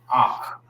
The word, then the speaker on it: Ahch: Ak, which is spelled AHCH. All right. They will actually be together. Ak. Together. All right. Because it loses its two A's. All right. So when you say it, kha is CHAA.